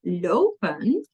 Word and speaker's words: lopen: However, in lopen, it's two. Het zijn er twee. Lopen.